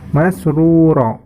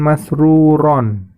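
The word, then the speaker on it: مَسْرُورًا: Ingat itu di akhir ayat fathah tanwin, ya. Karena letaknya di akhir ayat dan diwaqafkan, maka membacanya menjadi masrura, bukan masruron, ya.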